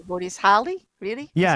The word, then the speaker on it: Halley: Haley. What is Holly? Really? Yeah, It's Holly? yeah. It's actually pronounced Hallie.